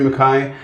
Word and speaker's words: Mackay: name m maai of course yeah beautiful Makai we well thank you for letting letting me